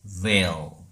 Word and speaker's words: veil: 베일이 아닌 veil. 그죠. veil 또한 영어라는 거. 그 비닐도 비닐이라고 그러잖아. 그 비닐도 원래는 비닐인데 발음기로 보면 vinyl이에요.